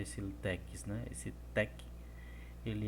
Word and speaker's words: TeX: A origem do latex, ele vem do tex, TX, geralmente a gente pronuncia tec, como se fosse TEC, tec.